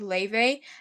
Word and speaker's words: Laufey: So like there's this artist called Leve and you spell her name as Laufey but you pronounce it as Leve, you know.